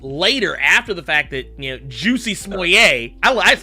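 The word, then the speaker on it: Jussie Smollett: Is it Juicy Smollett? Yeah, that's correct.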